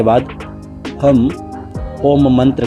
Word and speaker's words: ओम: कम 3 बार करेंगे और जब आप ओ बोलेंगे तो आपका मुंह खुला होगा और जब ओम में म की उच्चारण को आप अपने तालु से स्पष्ट करेंगे तो आपका मुख द्वार बंद हो जाएगा।